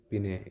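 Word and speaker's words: Binet: फिर भी आपको पता होना चाहिए कि इंटेलिजेंस के फादर अल्फ्रेड बिने, इंटेलिजेंस टेस्ट के फादर अल्फ्रेड बिनेट। टी ये देखिए, टी से आप याद रखिएगा, बिनेट टी साइलेंट है, टेस्ट की बात हो रही है तो अल्फ्रेड बिनेट।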